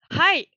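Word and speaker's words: はい: Et en effet, la majorité ne s'est pas trompée, ça se dit hai avec un H qu'il faut bien prononcer. Parce que hai sans H, ça veut dire l'amour et ça n'a rien à voir, on est d'accord.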